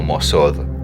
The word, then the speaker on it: Moth: El ángel Nalbash también le dice a John Dee, lo enseña, en pronunciar este Moth como Mosod, en relación a que el regocijo está aludido a una idea divina, no es el regocijo común.